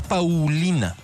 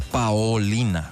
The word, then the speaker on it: Paolina: No es Paulina. Seguro conoces a muchas Paulinas tú. No, esta es Paolina con O Paolina y su apellido es Vercoutere.